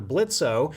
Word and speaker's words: Blitzo: voices the main character Blitzo. The O is silent, But